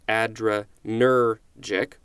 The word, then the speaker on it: adrenergic: about the emphasis so it tells you with a symbol that looks like a apostrophe which syllable gets the emphasis so in this case it's addre nergic and not all the